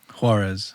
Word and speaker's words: Juarez: so I'm saying your name right Warz harez HZ harez harez okay pronunciation so we just got into the studio